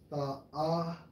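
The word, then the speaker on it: תַּאֲוָה: When you go into that term, bro, for pleasant, it's Strong's H8378, pronounced as Ta'awa. Ta'awa, which means a desire, a wish, a longings of one's mind.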